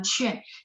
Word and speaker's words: 劝: Nadanya tidak banyak yang saya perbaiki ya, cuman cuan. Jadi Q, mungkin kita terbiasa pengen bacanya kayak bahasa Indonesia ya. Jadi Q bacanya TH, cuman mulutnya dibulatin UAN-nya. Jadi cuan ya, cuan.